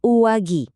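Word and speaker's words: 上着: Dibacanya uwagi.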